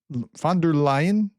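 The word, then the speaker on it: von der Leyen: Ursula Fonder Fonder Lion, somebody corrected me and told me phonetically. By the way, if I screw up spelling and you like let me know in an email or something, tell me how to do it phonetically. I think I got close there.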